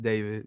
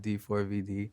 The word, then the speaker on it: D4VD: name is David, pronounced David, not D4VD.